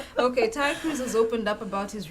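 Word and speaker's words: Tyla: stroke entertainment news um we have pop star tia cruz has oh it's actually tile uh is a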